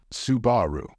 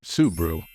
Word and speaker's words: Subaru: second syllable and say Subaru however the stressed syllable in this word is the first one so it should be pronounced as subu but guess what guess